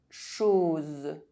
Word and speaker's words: chose: O is pronounced O when followed by a Z sound. Chose.